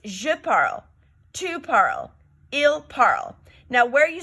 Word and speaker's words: tu parles: You do not pronounce that S there. So it's je parle, tu parle, il parle.